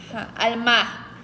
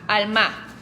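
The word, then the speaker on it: עלמה: palabra hebrea es alma al mar no alma alma porque se pronuncia como con un acento en la en las últimas al mar Como alma en español pero con un acento al final al mar Ok Esa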